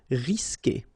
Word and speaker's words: risquer: when you get this Q, and after that you want to put a vowel like E, for instance, you will always need to put this U here between the two, but then you don't pronounce it. So the sound you will get here, for instance, is que. Okay, you don't pronounce the U, so risquer.